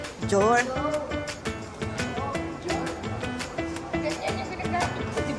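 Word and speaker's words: Dior: Dayor. Dayor daw, Dayor. Lalo ka lang hindi papasukin. Lalo ka lang hindi pinapasok. Mali yung pronunciation mo. Jor.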